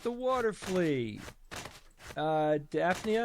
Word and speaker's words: Daphnia: Daphnia, is that how you pronounce it, Steve? Yes, Daphnia.